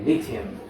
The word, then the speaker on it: lithium: foreign lithium normally it's a stressed on the first syllable okay first syllable okay lithium so this is the